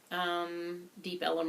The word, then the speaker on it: Deep Ellum: bluesy sort of thing Deep Ellum refers to a red light district in Dallas Texas Elm Street and some people spell it deepa Elm and some people say Deep Ellum and this is a